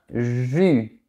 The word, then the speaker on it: jus: Pour bien prononcer ce mot, tu dois fermer la bouche, projeter tes lèvres vers l'avant et ta langue doit toucher tes dents du bas. Regarde un jus.